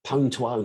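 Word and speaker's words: Pwn2Own: been looking at the pone to own and that is the correct way of pronouncing i don't care what anybody else is prone to own there's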